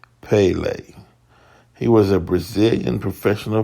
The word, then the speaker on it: Pelé: years old he was known by his nickname Pele uh Portuguese pronunciation was Pele he was a Brazilian